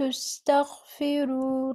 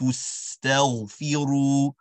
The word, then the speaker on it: اسْتَغْفِرُوا: That ghain is almost pronounced like a kha with a scratch. Rather, what we're looking for is, we're looking for the scratch in our throat versus the gargle, right? As the letter kha is going to have a scratch, with the letter ghain with a gargle.